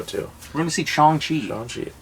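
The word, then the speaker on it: Shang-Chi: we're going to see chongchi if you didn't know it's pronounced strong chi yeah are you wearing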